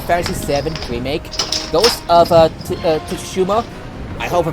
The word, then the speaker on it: Tsushima: It's pronounced Ghost of Tsushima. Tsushima, thank you.